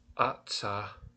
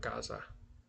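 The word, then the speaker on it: עזה: Ashcolan um Ata is this is how you actually say Gaza in the Bible. There's no G at all. So you have a a and a hey ata is how you say it. It's not Gaza.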